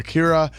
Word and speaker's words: Kira: could search off uh Kira which now has a whole new meaning cuz it's the pronunciation of the English word killer so now we have